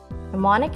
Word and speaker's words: mnemonic: is a noun mnemonic is spelled m-n-e-m-o-n-i-c mnemonic mnemonic is pronounced no means a system such as a